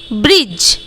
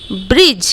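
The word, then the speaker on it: bridge: तो नहीं कर पाएंगे ओके सो बी आर आई दी जी आई दी के तुरंत बाद यहां पर जी है जैसे की आप लोग देख का रहे हो तो इसका उच्चारण हम लोग क्या करेंगे ब्रिज ब्रिज बी आर आई दी को छोड़ देंगे उसके बाद जी आई ब्रिज ओके तो दी का उच्चारण हम लोग यहां पर नहीं करेंगे ठीक इस तरह आगे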